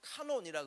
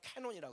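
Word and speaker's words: canon: 그래서 성경을 라틴어로 카논이라 그래요. 영어식 발음은 캐논이라 그러죠.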